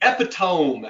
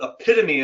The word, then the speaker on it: epitome: That is the epitome as it's spelled, but epitome as it's pronounced.